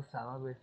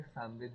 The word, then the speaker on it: सामवेद: वगैरह है इंग्लिश में, जब हम उनको लिखते हैं तो उनकी स्पेलिंग के आगे ए एक्स्ट्रा लगा देते हैं, इसका मतलब ये नहीं कि आप कैसे प्रोनाउंस करो। ठीक है, इसको सामवेद या सामवेद ही बोलना।